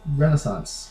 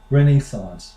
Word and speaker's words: Renaissance: here's another one Rena Renaissance you know we've Le we've all learned it in in world history some sometime around Middle School basically here's how the Brits say it Renaissance Renee renaissance renaissance and then here's another